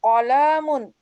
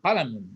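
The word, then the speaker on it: قلم: Hadza qalamun. Jangan qalam. Haza qalamun. Qalam. Tidak panjang.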